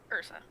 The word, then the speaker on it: Ursa: the top with irsa is it irsa or Ursa Ursa okay spelled like that um Ursa familiar